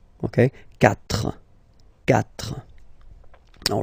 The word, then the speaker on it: quatre: So remember that even if you get this u vowel here, basically you don't pronounce it, because that's the rule in French. When we get this q letter and then a vowel after, then we will have to put this u, okay?